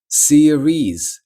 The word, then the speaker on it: series: Series.